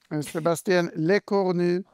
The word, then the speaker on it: Sébastien Lecornu: Sébastien Lecornu uttalas det.